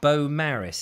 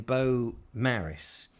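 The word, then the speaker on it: Beaumaris: was at bo maris he's told me how it's pronounced it's spelt very differently in welsh because that's a different language um and he is in beau maris i think it's a bit like the potato but very different so that doesn't make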